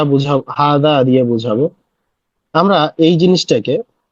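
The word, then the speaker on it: هذا: এইযে জিহবার আগালটা এই জিহবার আগালটা উপরের পাটির দাঁতের সাথে এই জায়গাতে লেগে ঠিক এই জায়গাটা থেকে উচ্চারণ হবে।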